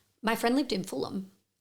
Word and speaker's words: Fulham: Um my friend lived in Fulham. Ah. Which I thought was pronounced Fulham.